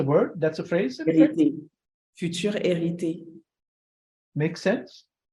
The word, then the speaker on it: Hériter: that's a phrase future erity makes sense it's it's inherited future like word for word ah I love it it's like you don't pronounce the h it's like the same